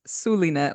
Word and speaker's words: Zulynette: Also, just so everybody and their mama knows, it's pronounced Sulinet like an S. The Z is only there to fool you. Thank you, Zulynette.